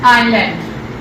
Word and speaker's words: island: This is island. This spells island. S is silent here.